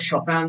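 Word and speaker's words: Chopin: সেই জন্য ঠিক না, এই যে এই যে এই যে এই যে শোপার কথা বলা, সুপিন শোপান কথা বলা, এই যে পোল্যান্ডের শপান এরকম উচ্চারণ হওয়া উচিত।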